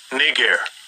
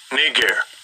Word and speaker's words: Niger: if Niger Niger let's hear how it's pronounced Strong's G 35 26 knee gear knee gear what did you call me nah but seriously let's hear that one more time Charles G 35 26 knee gear oh okay so they were they were called